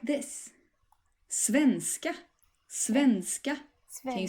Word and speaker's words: svenska: And the rhythm of the word here, as in many cases in Swedish, is that you stress both parts of the word. So please say after me, svenska.